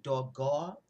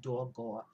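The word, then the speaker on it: הגה: So I looked up the word meditate, and it's in the Hebrew is dogah. It's actually spelled H-A-G-A-H, but it's pronounced dogah.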